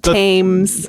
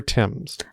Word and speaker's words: Thames: Not Tames. Not Tames or Thames. Thames is right out. The river Tims.